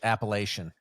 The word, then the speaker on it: Appalachian: Now see, I can't Appalach Appalachian is how we say it in Pittsburgh.